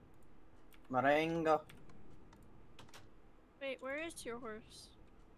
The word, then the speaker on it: Marengo: Oh, I pronounce it more Spanish than French, so. Marengo.